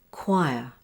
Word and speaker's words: choir: Here's an exception with the OI spelling. It's choir.